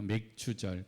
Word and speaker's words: 맥추: 맥추절. 그래서 이 맥추절을 통하여서 어떤 말씀을 함께 나눌까 하다가 오늘 이런 말씀을 함께 나누길 원합니다. 한번 따라서 합니다. 맥추는 점검이다. 예, 발음 잘 하셔야 돼요. 잘못하면 맥주가 돼버려서.